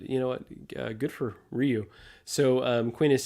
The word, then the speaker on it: Ryu: Good for Ryu. So Quinn is saying the correct pronunciation is Ryu.